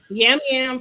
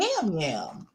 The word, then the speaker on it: Yam Yam: Why is your name Yam Yam? Okay, I'mma share that. He's from Puerto Rico. I think it's pronounced jam jam. They pronounce the Y like a J, but I just my vision say Jam.